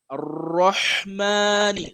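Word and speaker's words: الرحمن: You have to pronounce it with your mouth closed, curved, and you have to give it the shadda as well, right?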